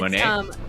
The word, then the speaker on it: Monat: So it's, Monat? Modern Nature is what it's technically called. So Monat. Yeah.